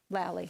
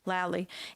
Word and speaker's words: Lally: Lally how do you say your last name Valli sorry Lally and I wanted to